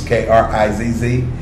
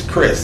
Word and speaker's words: Krizz: It's spelled with K's, K-R-I-Z-Z. And it's not pronounced Krizz, it's Chris.